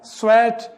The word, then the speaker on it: sweat: एक सेंटेंस यहां पर लेते हैं एग्जांपल के लिए, लुक आई blank स्वेट blank full stop, SWEAT स्वेट और SWEET स्वीट, दोनों का प्रोनाउंसिएशन आप क्लियर करें।